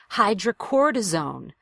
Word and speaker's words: hydrocortisone: and again very rhythmic a lot of syllables in the word hydrocortisone right so you have to find the rhythm hydrocortisone hi hydrocortisone if you're making everything equal and hitting it all at the same pace it's gonna be very difficult to understand so go for that strong syllable really make the vowel louder and longer hydrocortisone cream good you